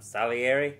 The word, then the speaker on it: Salieri: Salieri how do you say it exactly I'm Salieri yes that's what the internet told me what